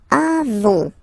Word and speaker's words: avons: Then nous avons. Final S not pronounced. Avons.